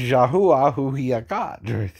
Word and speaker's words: Yahuwah: the prophet's job right the prophet is here to help you say its name and its name is yahuwah or the male and